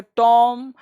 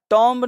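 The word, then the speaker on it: tomb: इसको पढ़ेंगे टॉम। टॉम्ब नहीं, इसको हालांकि रियल साउंड टुम्ब होता है। तो टुम्ब का मतलब मकबरा, लिखा तो टॉम्ब है लेकिन पढ़ेंगे टुम। तो टुम का मतलब मकबरा, इसको टॉम भी नहीं पढ़ेंगे, इसका रियल प्रोनाउंसिएशन टुम होता है।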